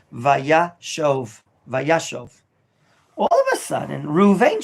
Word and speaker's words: Vayeshev: called a kamat katan and therefore it's blackberry pronounced shove vayashov all of a sudden ruvain shows up on